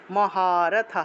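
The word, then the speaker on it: মহারথাঃ: সাথে একটা আকার আছে বিসর্গ থাকলে হ উচ্চারণ হবে তবে বিসর্গের আগের অক্ষরের সাথে যে কার চিহ্নটা থাকে সেই কার চিহ্নটা সেই হ এর সাথে যুক্ত হয় আমরা এখানে দেখতে পাচ্ছি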